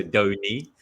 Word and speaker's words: Donny: The fun fact was it's pronounced dough, like what you make bread with, and knee, so dough knee.